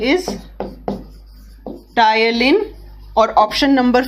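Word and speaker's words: ptyalin: ठीक है, टायलिन का स्पेलिंग आप लोग ध्यान दीजिए, पी होता है उसमें और पी साइलेंट होता है।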